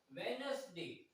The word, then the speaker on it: Wednesday: Yes, you don't sound D as in Wednesday. See, first D is silent, but second D you say, right?